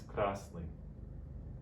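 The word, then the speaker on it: красный: In Russian, it's pronounced zelyony. Repeat after me. Zelyony. Zelyony. Great job. The next is krasny.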